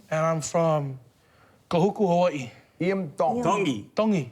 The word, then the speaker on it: Tongi: I'm from koku Hawaii tongi you pronounce the T like a D in the tongy cultur yeah so I'm G to have to make an apology his name Isam dongy so team dongy so